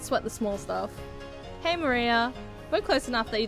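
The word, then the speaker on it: 真里亞: Her name is written in still can't read of course is pronounced Maria.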